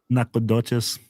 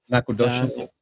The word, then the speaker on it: Nacogdoches: How would that help me pronounce it? It's the same spelling. Nacogdoches. Nacogdoches.